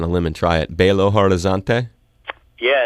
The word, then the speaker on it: Belo Horizonte: land forgive me if I don't have the pronunciation wrong but I'm gonna go out on a limb and try it Belo Horizonte yeah it's my hometown but am I saying